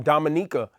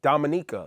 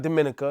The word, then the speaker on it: Dominica: a young lady from Dominica who you know dude didn't even know how to pronounce the nation and she was like it's it's a it's Dominica like it's not Dominica it's Dominica it's in the Caribbean